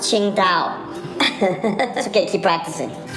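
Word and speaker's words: Tsingtao: you like a uh to sing taylor dude it's pronounced qingtao let's get you practicing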